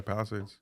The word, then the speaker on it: Palisades: Wow, yeah, Palisades.